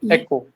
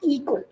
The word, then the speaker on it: echo: pronunciation of echo. So we say Echo. it is echo. It is not eco.